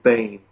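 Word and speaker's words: Behn: White House detail, Gerald Bain. Last name is spelled B-E-H-N, Bain.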